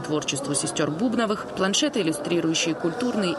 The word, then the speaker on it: Бубновых: япония абхазия жизнетворчества сестер бубновых продлится до 31 мая кстати бубновыми сестер стали называть имена в абхазии народе так и осталось но это не правильно ударение в фамилии ставятся на первый слог надежда боровикова сосруко гуха